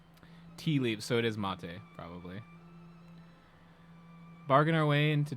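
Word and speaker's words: maté: I always thought that had like an accent on the E. Unless there is like a mate T I'm not aware of. I'm pretty sure that's mate.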